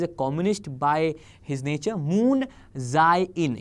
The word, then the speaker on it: Moon Jae-in: Moon Jae-in, yes, that is what is the pronunciation. I have googled it, but I could be wrong. आप check कर लीजिएगा. Moon Jae-in.